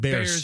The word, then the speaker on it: Bierce: So the family pronounces it Beers. Beers. But the whole area still calls it Bears.